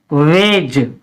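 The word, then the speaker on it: wedge: में साइलेंट रहती है इसके बाद है व आई दी जी आई तो इसको हम क्या पढ़ेंगे वेज क्या पढ़ाएंगे वेज यानी दी साइलेंट रहेगी क्योंकि जी ए आया है लास्ट में एचडी आया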